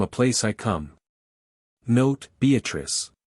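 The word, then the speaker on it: Beatrice: place I come note beatric I use this word as it is pronounced in the Italian as consisting of four syllables of which the third is a long one revisit with joy Love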